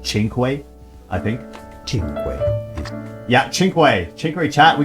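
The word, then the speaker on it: Cinque: And yes, the letter C in Italian by itself before a vowel is pronounced as ch. Well, that's before an E or an I, which is the case here. So, chinq.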